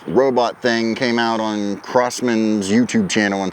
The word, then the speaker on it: Crosman: We correlate the crosshair with crossmen. Hence it's always been a part of their logo and a part of their theming. So that's why we say crossman.